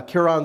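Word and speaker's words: Kiron: So this is by Kiran Skinner, is I think how you pronounce her name? Dr. Kiran Skinner, yes.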